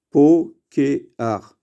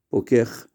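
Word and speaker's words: פוקח: Normalement, on aurait dû dire poker, comme l'omed, kotev. À cause du chet, on change, on dit pokeach.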